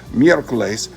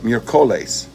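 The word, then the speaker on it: miércoles: on the first syllable the three-syllable word for Wednesday meerkles instead of mercolis all right so if the accent mark wasn't there you'd pronounce it mere Colace it accent marks there you pronounce it Miracles that's the acts of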